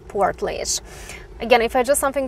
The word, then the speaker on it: Portlaoise: a bit different than the way you pronounce it but you pronounce it as portlage again if i do